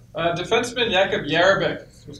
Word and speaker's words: Jerabek: Defenseman Jakub Jerabek was called up last Wednesday versus Nashville.